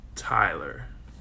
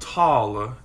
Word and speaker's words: Tyler: it's Tyler right Tyler no it's Tyler Tyler not taller it's Tyler Tyler well